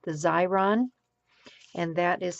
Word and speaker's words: Xyron: there are also adhesive applying machines like the xyron and that is spelled x y r o n and the